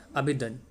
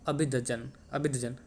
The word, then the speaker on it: Abidjan: तो इसका कैपिटल है अबिदन, माफ़ कीजिएगा अबिदजन।